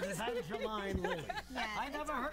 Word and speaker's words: Evangeline: I have to say, I noticed that Evangeline on the prompter is spelled E-E-N to get you to say it right. That's very sweet. Years ago, I said Evangeline Lilly.